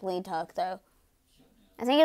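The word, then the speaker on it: Leeteuk: put else's name well I think it's actually pronounced like Lee Teuk though I think it's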